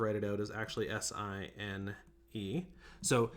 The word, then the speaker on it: sin: it out is actually si n e so even though it's spelled sin it's pronounced sine if that makes sense